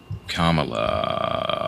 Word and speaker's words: Kamala: I'm not I'm not attacking Kamala Harris at all. That's not how you fucking pronounce her name. Kamala. I'm sorry, I didn't know you were her lackey.